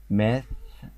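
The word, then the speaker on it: math: التي اتش طبعا بتنطق زي حرف الت باللغة العربية، فالكلمة بتتنطق ماث، يعني كأني بطلع لساني حتة كده وأنا بقول التي اتش، ماث، ماث.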